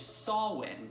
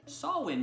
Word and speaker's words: Samhain: holiday but the most well known one is saw when actually pronounced so Old English saw win means end of song the Celts it's divided